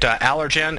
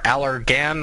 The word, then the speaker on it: Allergan: take a look at allergen a g n or allergan i believe that's not a soft g uh kind of a